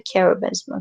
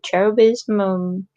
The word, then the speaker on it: cherubism: Okay, differential diagnosis and treatment, and the cherubism, because or cherubism, yeah, they pronounce it in both ways.